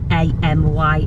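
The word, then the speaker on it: Ainee: called Amy Michelle and the Amy is not spelled a-m-y it's spelled a i n e e Amy and it was here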